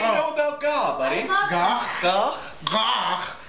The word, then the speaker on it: gagh: Gagh is actually pronounced in the back of the throat.